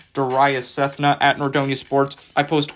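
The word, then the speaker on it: Darayus Sethna: my name into twitter is spelled d-a-r-a-y-u-s-s-e-t-h-n-a doria cethna at nordonia sports i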